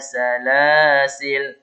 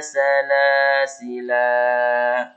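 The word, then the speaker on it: سلاسلا: Tapi kalau kita wakaf di sini ada dua cara. Pertama, inna a'tadna lil kafirina salasil. Matikan. Atau boleh juga dibaca panjang. Inna a'tadna lil kafirina salasila. Nah, seperti itu ya, khusus untuk salasila.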